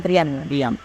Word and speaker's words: Priam: Ada banyak leader yang bermain di situ kan, mulai dari Hector, Agamemnon, terus King Priam, bacanya Priam.